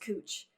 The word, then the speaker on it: Couch: in Portland we have a street called Couch Street which is pronounced cooch really it's pronounced is